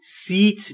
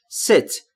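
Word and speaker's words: set: بدم ست نشستن و در مورد تلفظ ای در ست باید دقت بکنید بین ای و ا تلفظ میشه یعنی سیت نیست ست یعنی نشستن نکست کنار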